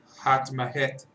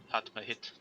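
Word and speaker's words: Hatmehit: I hope I'm pronouncing that correctly. Hatmahet. Which god is this? It's the Egyptian fish god. They're not literally a fish. They aren't typically portrayed as a fish, though. But yeah, she's the Egyptian fish god. Yeah, you're pronouncing that right. Hatmahit.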